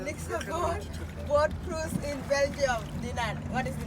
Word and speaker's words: Dinant: Next boat cruise in Belgium, Dinant. What is the name of this town? Dinant. Dino. Dinant. Okay. Dinant. Deze spreek je niet uit. Dino.